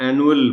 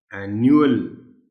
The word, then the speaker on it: annual: आमतौर पर जिनको नहीं मालूम होता और उनकी या प्रैक्टिस नहीं हुई होती तो इसको आमतौर पर एनुअल बोलते हैं, एनुअल। Whereas the correct pronunciation of the word is, आप गौर से सुनिएगा और बच्चों को भी बताइएगा, एनुअल। एनुअल यू की साउंड इसमें जाहिर करनी है, एनुअल।